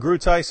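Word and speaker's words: Groothuis: So Doug Grutheis, it's actually spelled like Gruthuis or something like that.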